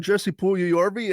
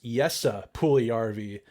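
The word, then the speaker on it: Jesse Puljujärvi: We are talking about Jesse Puljujarvi and his official signing.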